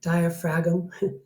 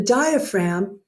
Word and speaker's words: diaphragm: from your lab that the diaphragm diaphragm silent G the diaphragm is by far the